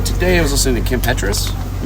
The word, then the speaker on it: Kim Petras: Again and also today I was listening to Kim Petras. Mhm. That's how that's pronounced her newest record.